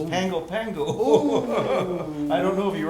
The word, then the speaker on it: Pago Pago: the pronunciation oh well you don't pronounce it pago pago it's pangopango i don't know if